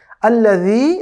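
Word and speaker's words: الذي: আল্লাযী, এখানে দালটা খুবই সফট হবে। আল্লাজি অথবা আল্লাজি এরকম বলার কোনো সুযোগ নেই। জালের উচ্চারণ আমরা শিখেছিলাম খুবই সফট, নরম করে উচ্চারণ করতে হয়। সেখানে আল্লাযী, আল্লাযী।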